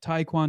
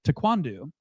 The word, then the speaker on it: taekwondo: I've always said taekwondo. Taekwondo. Three syllables. They're like taquandu.